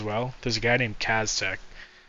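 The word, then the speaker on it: Caztec: There's a guy named Kaztech. It's spelled C-A-Z-T-E-C.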